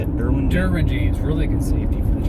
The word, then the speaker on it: Derwin James: Darwin James. Is that how you say it? Derwin James, really good safety for the Chargers.